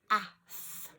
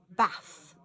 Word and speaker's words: bath: Now you could try bath, but there's a sound in the middle that sounds like ah, and it's not. So you might have to say bath, bath.